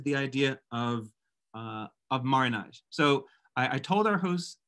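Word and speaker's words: marronnage: over time in different ways i tend to spell it m a double r o n a g marinage and it is a french word that is a noun that has the effect of a verb uh marinage initially came into being in uh if we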